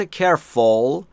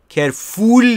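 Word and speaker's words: careful: دقت بکنید عزیزان دلم تلفظ درست کرول کر فول نیست فول یک یعنی احمق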